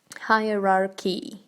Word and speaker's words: hierarchy: Hierarchy. Вот тут CH читается как К и high, не hie, да?